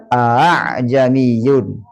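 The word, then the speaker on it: أأعجمي: Apa tashil? Itu mengucapkan huruf antara fathah dan alif. Terdapat pada surah Fussilat ayat berapa nih? 44. Ini sudah biasa semua kayaknya nih. Bacanya gimana? A'jamiyun.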